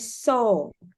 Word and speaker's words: saw: Kemudian ini bacanya he saw, kayak saw, sau gitu.